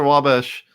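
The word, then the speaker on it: Wabash: yeah right across the W bash so if you go uh if you cross the W Bash that's how they say it in Illinois well yeah that's how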